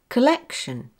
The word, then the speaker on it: collection: Collection. Collection. Yes, the second syllable is stressed.